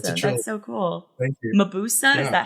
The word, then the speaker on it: Mabuse: Mabuse, Yeah. is that how you pronounce it?